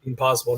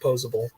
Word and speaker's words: posable: rate I mean it's his name wrong posible not posable my bad yeah yeah